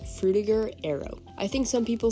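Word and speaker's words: Frutiger Aero: think some people say Fruita Arrow as well but when I looked it up the European pronunciation which is where the word originated is with a gur not ger so I just went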